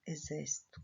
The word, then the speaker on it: exército: Porém, quando eu coloco o X, eu leio como se fosse um Z. Aqui está escrito exército.